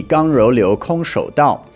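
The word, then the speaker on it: 剛柔流空手道: In Chinese pronunciation, the name of that would be Gang Rou Liu Kong Shou Dao, or hard soft flowing empty handed way.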